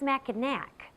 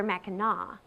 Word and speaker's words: Mackinac: know it's not pronounced Mackinac but rather Mecca a pronunciation that Harkens back to the early days of this area when the French ruled here the Mighty Mac as